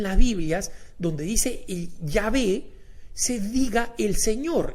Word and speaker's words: Yahvé: E, y de ahí es donde viene el Yahvé, y es la razón por la cual la Iglesia Católica recomienda que en realidad en las Biblias, donde dice el Yahvé, se diga el Señor, y las nuevas traducciones